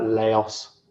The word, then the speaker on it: Laos: Um And one of the countries I went to, I say it Lao, but I think some people pronounce it like Laos.